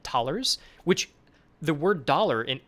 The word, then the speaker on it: thalers: So if you don't know how to pronounce this, we say cash right now, but that'll get renamed. It is thalers.